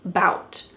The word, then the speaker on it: about: Sometimes we cut off the first letter A and just say bout.